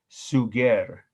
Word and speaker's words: Suger: who created it was the bishop suger s-u-g-e-r it's almost looks and sounds like the word sugar but he has nothing to do with the um the food item sugar last name bishop you